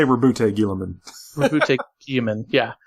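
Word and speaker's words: Guilliman: It was she mispronounced his name because it's actually Gilliman, but she was like Gilliman, and I was like, "Wait a minute, what?"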